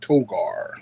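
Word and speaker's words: Togar: You got to say it like that. Toggar.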